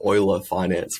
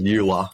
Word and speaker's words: Euler Finance: sort of like D5 protocol called it's actually pronounced Euler Finance for some reason but it's I always thought it was new La yeah yeah yeah but anyway I love for